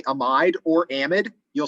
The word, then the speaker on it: amide: call that functional group i refer to that as an amide there are other people with phds in chemistry that call this an amide so either pronunciation is perfectly acceptable i prefer amide personally all right but either